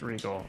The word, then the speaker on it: Regole: It's pronounced just Regal.